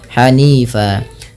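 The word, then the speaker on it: حَنِيفًا: Kalau kita waqaf pada lafal hanifan, maka apabila ada huruf berharokat fathah semisal fan, jan, kemudian dan ya, maka cara membaca ini kalau ketika berakhir di waqaf itu dibaca dengan fa, ja, da.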